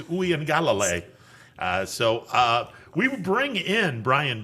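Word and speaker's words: Uiagalelei: Oeangalale is how you pronounce that name, if I am looking at their program the correct way. Oeangalale.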